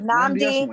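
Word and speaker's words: Nnamdi Asomugha: Nnamdi? Asamoah.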